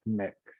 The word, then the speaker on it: Mx: because so they're using it's MX and it's pronounced mix um and so I